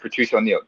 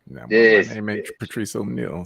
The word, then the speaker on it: Patrice O'Neal: the way that said you said it wrong you got to say like Patricia Neal this Patrice O'Neal so no but you